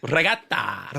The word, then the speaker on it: regatta: You gotta say it like that, or else no one's gonna understand what you say. Sorry, regatta. No, regatta. Regatta. Yeah, a little spice at the end of the A.